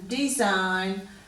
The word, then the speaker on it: design: and we'll go to the silent G in these one so we've got sign design a sign neck no